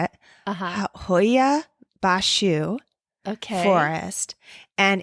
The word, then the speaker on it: Hoia Baciu: Hoia Baciu Forest.